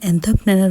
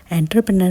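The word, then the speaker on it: entrepreneur: तो देखो फ्रेंड्स एंथरप्रेन्यर होता है ये एंथरप्रेनर एंटरप्रेन्योर नहीं होता है एंथरप्रेन्यर तो इसे इस तरीके से प्रोनाउंस करें तो वो जो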